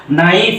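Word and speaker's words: knife: পারি সেটা হলো যে শব্দের শুরুতে যদি কে এন আসে তাহলে সেখানে কে টা সাইলেন্ট থাকবে এন টা উচ্চারণ করা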